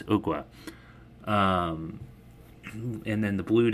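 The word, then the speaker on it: Ogua: we were all kind of wondering how to pronounce that we thought maybe it was agua agua um yeah it's ookwa um and then the Blue Devil um we're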